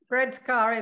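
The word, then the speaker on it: Bredskär: But is it Bredskar, the island that it's the summer book is based on? Yes. Yeah, we would say Bredskar, but yeah, Bredskar is good enough.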